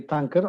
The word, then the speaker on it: Tuncer: You pronounced the name almost correctly, Tuncer.